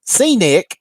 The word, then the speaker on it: C-Nick: And C-Nick. So it's C-Nick. So I appreciate you telling me how that you pronounce that, C-Nick.